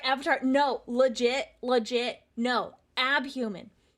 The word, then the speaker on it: Abhuman: Abhuman. Abhuman. Spell it with me.